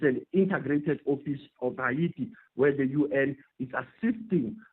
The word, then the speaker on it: Haiti: It's Hayiti. And in fact, if you to take it to the extreme there, they say I and they drop the H as opposed to Haiti. It's not Haiti. It's Hayiti.